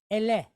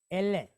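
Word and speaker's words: אלה: So now we're going to pronounce it as El. And then we're going to pick up a second L, and then this Segol, short duration E, with a hey behind it, Le. So the word is Ele.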